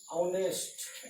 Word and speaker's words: honest: ठीक इसी तरह से यदि आप फिर लिखते हैं ऑनेस्ट, HONEST, ऑनेस्ट।